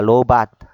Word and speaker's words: lowbat: 그래서 로밭 상태가 많은데 로밭이라고 하더라고요. 배터리가 low battery situation을 로밭 예, 밭 이렇게 발음합니다. 로밭.